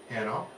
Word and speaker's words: Hanno: Here we are again, and we're here with the Melomane Duo, which is comprised of clarinetist Christy Hanno, which you told me rhymes with piano, and Jenny McClay.